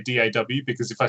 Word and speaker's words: DAW: Will is saying ask a Brit to say door, and Yeah, DAW. Well, that's right. Well, that's why I don't say door. I say DAW, because if I say